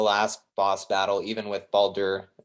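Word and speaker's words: Baldur: boss battle even with balder baldier i can't ever say it right i think it's just balder right alder yeah uh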